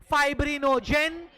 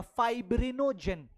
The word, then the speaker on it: fibrinogen: फाइब्रिनोजेन, globulin, एल्ब्यूलिन।